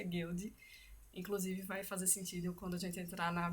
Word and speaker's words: Goeldi: a título de curiosidade toda vez que eu lia o nome dele eu falava goel aí através de pesquisa eu descobri que o a pronúncia guild inclusive vai fazer sentido